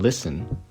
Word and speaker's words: listen: Just as you don't say the T in listen, the TT in better is pronounced D.